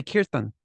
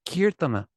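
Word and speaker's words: कीर्तन: kirtan they don't say kirtana it doesn't mean that it's right if you want to speak Hindi then you should say kirtan but if you want to speak Sanskrit then you just say kirtana this like English like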